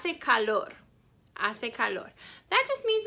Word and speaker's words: hace: it's very hot and ase calor just means it's warm hace i didn't say ha se calor because the ancient spanish is silent i said ase calor ase calor okay so